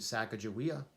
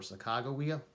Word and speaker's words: Sacagawea: help from a woman named Sacagawea or sacado weeow my name's pronounce different ways she acted as a